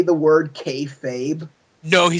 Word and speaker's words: kayfabe: And then did Joseph Park actually say the word kayfabe? No, he said K-fobbed. Okay, I that was swear to pronounced it.